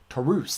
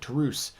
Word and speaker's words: Taurus: looks like a monster oh sorry Taurus looks like a or sorry tus that's how you actually pronounce it tus uh looks like a